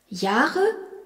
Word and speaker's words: Jahre: Ich bin 16 Jahre alt s'écrit I-C-H, ich, B-I-N, bin, 16, S-E-C-H-Z-E-H-N, 16, Jahre, J-A-H-R-E, où l'on remarque que le H prolonge le A.